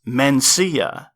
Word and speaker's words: Mencia: a similar sounding one a name like for instance Mencia this joke thieving piece of human garbage has the stress on the second syllable of his name see which is similar to your V in both its pronunciation and its subsequent syllable ah if most of